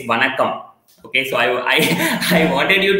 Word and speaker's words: Vanakkam: And that's a greeting in Tamil that says Vanakkam. Okay, so I wanted you to do that for the people who are joining now, also will be watching on live. So this, you can pronounce it as Vanakkam.